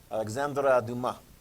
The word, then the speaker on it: Alexandre Dumas: Did I say that right? Yes, we said it the correct French pronunciation. Alexandre Dumas.